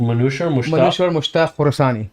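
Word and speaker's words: Manouchehr Moshtagh Khorasani: Manusher Mushtaq Khorasani.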